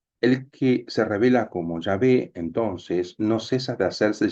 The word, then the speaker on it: Yahvé: Esta es una errónea pronunciación del nombre Yahvé, que pudo ser introducida